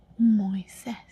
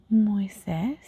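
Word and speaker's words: Moisés: Moises. Moes. Moises is not too common actually in Spanish.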